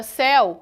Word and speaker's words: céu: caso do monossílabo céu percebam que a palavra céu a pronúncia dela é imensamente aberta o e ele possui o som de e nesse caso o monossílabo